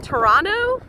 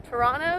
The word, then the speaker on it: Toronto: you're a noob wait toronto toronto you don't pronounce the t oh oops all right